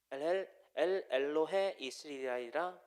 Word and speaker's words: 엘로헤 이스라엘: 쌓고 그 이름을 엘 엘로헤 이스라엘이라 불렀더라. 그러니까는 엘로헤 이스라엘이라고 읽어야 됩니다. 저도 붙어 있어가지고 가끔 헷갈리는데 엘로헤 이스라엘.